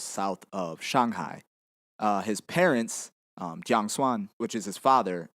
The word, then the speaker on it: Jiang: So the name Chiang Kai-shek is actually, how to describe this? This is actually Cantonese. That's a southern Chinese dialect. Nowadays, most of us that study Chinese, we study Mandarin Chinese, and we would pronounce his name Jiang.